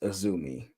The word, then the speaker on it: Azumi: It's and it's pronounced Azumi.